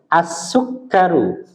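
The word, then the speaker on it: السكر: as as eh konsentrasi asukar enggak boleh panjang k-nya asukar asukaru asukar ah begitu jangan dipanjangkan ya asukaru gimana asuk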